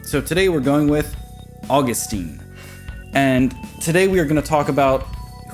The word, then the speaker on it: Augustine: You may have heard the name pronounced Augustine. That is valid. That is the British pronunciation. So today we're going with Augustine.